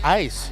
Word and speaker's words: ais: not oh that oh that's how you pronounce AIS ice ice yeah ice like like ice ice cubes like ice cubes that would explain a